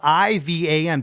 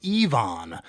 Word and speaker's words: Ivan: And the first time I noticed here, and it could be a different name, but it's spelled I-V-A-N, pronounced Ivan. And the second time it's pronounced Yvonne.